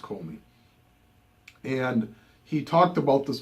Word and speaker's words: Comey: I believe it's pronounced Comey.